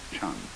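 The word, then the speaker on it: 禪: Eka is Japanese pronunciation, like Zen is the Japanese pronunciation of the Chinese Chun.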